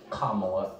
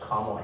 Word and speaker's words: Kamala: we apparently unknowingly mispronounced kamala harris's name it is pronounced comma not semicolon with punctuation mark paula